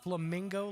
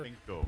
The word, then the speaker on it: flamenco: Because I was a room over, and it sounded like you said flamingo like 17 times. And I want to make sure you were pronouncing it right, sir. Flamenco.